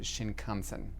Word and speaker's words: Shinkansen: I got into Tokyo in early evening and had to catch the bullet train, the Shinkansen, which I'm sure I mispronounced. Shinkansen.